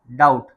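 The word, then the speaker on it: doubt: इसके बाद यह डाउट नहीं पढ़ा जाएगा। यह पढ़ा जाएगा डाउट। क्योंकि टी से पहले बी आ गया।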